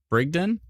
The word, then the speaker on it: Brigden: I say it wrong hard G Brigden is it Brigden what' I say bridden Brigden bridg Den is it bridg Den or Brig Den Brigden please let me know